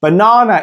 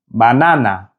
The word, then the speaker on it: banana: Now in Spanish, banana is spelled exactly the same, but it sounds completely different. The Spanish pronunciation is banana, banana. Notice how the 3 A sounds are exactly the same.